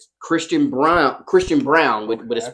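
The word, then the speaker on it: Braun: __ ] they were like Christian Brown I was like you mean Brun they was like no Christian Brown Okay cool so yeah they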